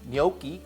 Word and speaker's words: gnocchi: couldn't resist delicious then we'll put in the gnocchi gnocchi gotta say it right and then we'll taste